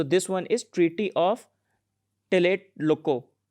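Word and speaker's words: Tlatelolco: one is treaty of tillet loco i think tea is silent there so late loco lo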